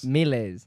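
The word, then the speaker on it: Maelase: that over there yeah is that melees yeah because my name is spelled m-a-e-l-a-s-e yeah okay big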